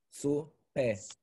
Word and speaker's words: supe: Not stressing the E. Yo supe. Like if it's, you know supa? You ever heard about supa? Sí. Okay. Supe. No acento en... No hay acento en la E.